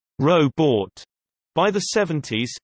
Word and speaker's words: robot: during the late 30s to early 40s, the second syllable was pronounced with a long O, like rowboat. By the late 50s to early 60s, some were pronouncing it with a short U, like robot, while others used a softer O, like robot.